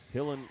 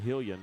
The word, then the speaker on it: Hillen: And Hillen Vardaman, and I've been mispronouncing Hillen's first name. I've been saying Hillian, and I am so sorry about that.